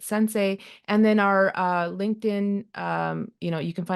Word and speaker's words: Sens.ai: Yeah, I mean, our website is the same as our name, Sens.ai. We pronounce it Sensei.